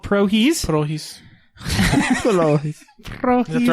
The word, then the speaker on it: Prohis: The first one we're going to review is called Prohis. Prohis. Prohis. Is that the right way to say it? Prohis, yeah.